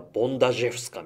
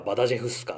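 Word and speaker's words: Bądarzewska: 作曲した人物ポーランド人で本来はボンダジェフスかみたいな発音をするらしいんですが日本ではバダジェフスカとかバダルジェフスカと呼ばれている女性の作曲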